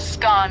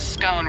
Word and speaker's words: scone: the pronunciation of scone both scone rhyming with gone and scone rhyming with bone are accepted pronunciations though Regional variations exist